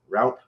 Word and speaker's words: Raupp: khan father mr tan how are you doing doing good how are you all doing am i pronouncing your last name right route route okay that's close the more i drink